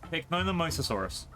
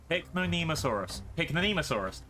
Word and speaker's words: Pycnonemosaurus: Hang on, I pronounce this. Pycnomosasaurus. Nope. Pycnonemosaurus.